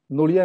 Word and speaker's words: Noria: Noria, I'm talking in Odia pronunciation.